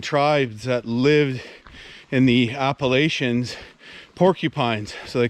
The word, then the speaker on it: Appalachia: the bark there the appalachia or i think as they pronounce it in the states appalachia i think we use uh the french pronunciation here in canada but these are the